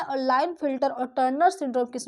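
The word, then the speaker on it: Klinefelter: देखिए के यहाँ पर साइलेंट होगा, इसको पढ़ते हैं लाइन फिल्टर सिंड्रोम।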